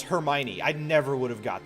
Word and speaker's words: Hermione: how do you pronounce is it herme one is it hermione no it's hermione i never would have